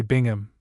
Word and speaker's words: Bingham: The Rolls-Royce containing representatives of the Seavoi and shepherds in the shapes of beautifully gowned, handsome, placid, somewhat dull, the honorable Mary Bingham, pronounced beam, her friend Dan Eliam,